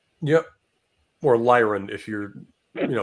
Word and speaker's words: Lyran: Oh, Liren. Yep, or Lyran if you're, No, mispronouncing it. Lyren. No. Yeah. I say Lyran because it's like the Constitution Lyra because that's where it is, or a constellation.